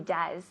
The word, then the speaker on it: does: No, porque es una O y E, pero se pronuncia como una U en inglés.